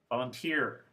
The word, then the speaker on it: volunteer: to three syllable words volunteer referee picturesque so here the suffix is the last syllable and the word stress is the last syllable as well and this brings us